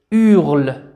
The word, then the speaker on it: hurle: إذا اش هنا هو حرف يكتب ولا ينطق. إذا هو حرف يكتب ولا ينطق. سنقرأ فقط u.